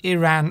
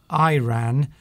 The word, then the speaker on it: Iran: Connell says, do you pronounce it Iran or Iran? I think if you're English, you would pronounce it Iran. Americans tend to say Iran. Yes, so the stress is very different on the first letter.